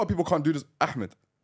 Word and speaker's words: Ahmed: Ahmed. Ahmed. See, why is there Ahmed? No. Try Should I do Ahmed? Huh? Ahmed.